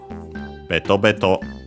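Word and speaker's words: べとべと: Uh unlike most anomato which we have seen are accented on the first syllable, this one is unacented. So be careful. Betto betto.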